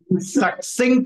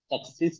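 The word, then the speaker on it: succinct: give relevant meaningful and suing answers SU answers not Su it is suin suin means precise your pronunciation suin it is okay om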